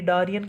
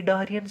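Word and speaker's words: Cnidaria: कहते परवाल ठीक डारन इसको इंग्लिश में पता है इसकी स्पेलिंग क्या है इसकी आ सी एन आई डी ए आर आई डार C silent होते हैं ठीक है कैसे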